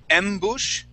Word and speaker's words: Ambush: Ambush? Ambush, like the president. Oh, okay. With the accent on the end, right?